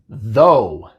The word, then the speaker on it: though: También hay palabras con la combinación O-U-G-H en las que se pronuncia como O en vez de A. Por ejemplo, though. Though. En estas palabras, lo que pasa es que la palabra termina con O-U-G-H, no sigue nada y en estos casos, en la mayoría de estos casos, se pronuncia O.